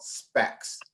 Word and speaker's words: SPAC: And SPAC is spelled S-P-A-C.